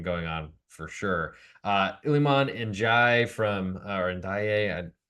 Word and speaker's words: Ndiaye: Iliman Ndiaye from or Ndiaye, feels like the way they pronounce Ndiaye or Njai in the United States is way different than they do in European football. I would trust probably the Europeans better.